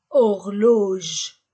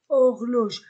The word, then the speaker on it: horloge: gant une cravate une horloge horloge je ne prononce pas le H horloge une horloge une horloge